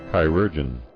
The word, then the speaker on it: chirurgeon: Maybe I can learn how to pronounce it. Chirurgians? Chirurgians? Chirurgeon.